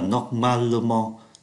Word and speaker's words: normalement: Nhưng mà các cái trạng từ tận cùng bằng mong thì người ta không phát âm cái từ ơ nó nằm ở bên trên. Thay vì nói là normalement thì người ta phát âm là normalement.